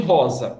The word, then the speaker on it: rosa: Quando você tem um S entre duas vogais, como ele deve ser pronunciado? Qual é o som? Eu não sei como dizer, se é cedilha. Um som de Z. Então, você tem rosa, R-O-S-A.